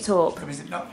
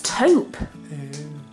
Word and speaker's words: taupe: me the other day it's not called perfectly talk it's taupe yeah I've been saying